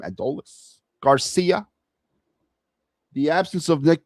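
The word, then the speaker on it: Adolis: So with the changes with Justin Crawford and Addios, Adolles, that's how you say his name, Adolles, Garcia, the absence of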